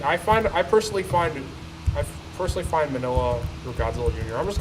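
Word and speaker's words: Minilla: Like I personally find Manila or Godzilla Jr. I'm just calling him Manila. That's the right way to pronounce his name.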